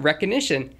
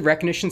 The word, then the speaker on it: Rekognition: Thankfully, the helpful people over at Amazon Web Services have created a service called Rekognition. It's spelled like Rekognition, but with a K since that sounds more trendy, I guess.